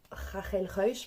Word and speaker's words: Ruysch: un sacré morceau avec Rachel rush ou Rachel Reich pour le prononcer à la flamande donc Rafael Reich c'était